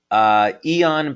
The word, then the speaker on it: Aeon: Aeon, by the way, is spelled A-E-O-N, and yes, that's a patch that you can find on our website.